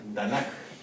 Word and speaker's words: Tanaj: marca aquí no eh Y se les da como pronunciación tan tanaj Ah tanaj tanaj seguramente